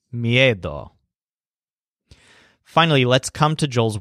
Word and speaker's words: miedo: looks at them and his word for fear is MIA doll so the stress sounds kind of like head with a silent H me a doll finally let's come to